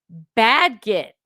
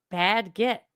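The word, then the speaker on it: Bagehot: of the column in the economist is bad git with a short sound like in cat. Bad get bad get.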